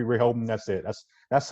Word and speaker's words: Rehoboam: For me, I feel like it's just Rehoboam. Okay. I feel like it's got 3 syllables, 3 Rehoboam.